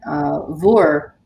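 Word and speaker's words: bhur: There's a different possessive word, vor. Do you pronounce it vor or ver? Vor.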